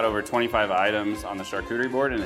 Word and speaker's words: charcuterie: know one thing that I'm not good at pronouncing this kind of thing. Yeah. I always call it a chattacurry. Yeah. No. Chattacurry. Chattacurry, but you tell me, how do you say that again? Charcuterie.